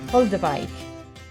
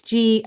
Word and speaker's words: Goldewijk: trying very hard to get this right, Yorick Goldewijk, which is spelt, if you're looking for his book, I'm going to say this because this is important. It's Goldewijk. Goldewijk.